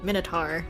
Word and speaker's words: Minotaur: Minotaur, not Tor.